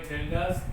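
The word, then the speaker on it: Kjeldahl: Using this formula we can define percentage of nitrogen by Geldas method. Here K is silent, we have to write K, but in Geldas method is not applicable to compound.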